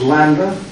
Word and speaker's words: lambda: This is lambda. Capital here, and this is a small lambda, like in lead.